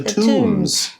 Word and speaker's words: tomb: there and sweep the tombs. Okay, now you watch out that word. The B is silent. It's not a tomb sweeping day. No. It sounds like a name, like a tom with a B.